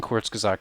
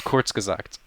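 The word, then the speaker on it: Kurzgesagt: i did well wow it's almost like i took german i've never heard it pronounced correctly can you say that one more time it's quartz gazak corks corkscres every time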